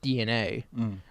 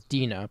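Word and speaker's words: DeNA: The reason these mobile games exist was because they had the partnership with DNA, which everyone mispronounces their name as Dina because they don't know how trademarked names work with pronunciations.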